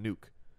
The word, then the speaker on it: Nuk: Even though it is spelled N-U-K, it's still pronounced nuke.